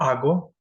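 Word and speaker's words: hago: ठीक है, तो यो के साथ आता है आगो, तू के साथ आसे। आ इसलिए बोल रहा हूँ क्योंकि एच साइलेंट होता है।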